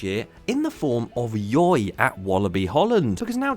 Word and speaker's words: Yoi: I got told that Yoi was supposed to be pronounced Joy, and they just did it to sort of symmetralize, nice word, symmetrical, and a Y instead, so it fits.